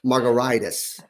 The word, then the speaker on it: Margaritis: it's pronounced like a we pronounce it like a cocktail but it's actually spelled like an information inflammation margaritas and my email is